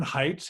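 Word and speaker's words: Haidt: and the author's Jonathan heights it's pronounced it's pronounced height but it's H AI D T looks the righteous mind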